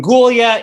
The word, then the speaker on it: Gulya: already mentioned um so my name is dr gulia if it helps anyone in terms of pronunciation it's it rhymes with julia so you can have julia gullia in the back of your